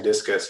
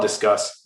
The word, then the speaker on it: Disqus: occurred to me that um you were saying discus just because it it it's pronounced that way so often that i i don't uh it doesn't even uh stick out to me um we call it discuss um i think you're more correct in pronunciat